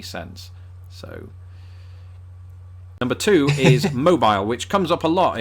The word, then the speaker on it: Mobile: there's a city spelled exactly the same way pronounced mobile and that is why this word makes my